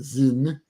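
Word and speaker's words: Sinn: is called Z Z spelled s i NN but pronounced Zin z um and another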